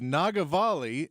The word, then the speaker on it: Nagavali: This is Nagavali, and she is doing her CD release Saturday at Stateside at the Paramount. Okay, say her name again. Nagavali. Nagavali? Nagavali. Say it slow. Nagavalli.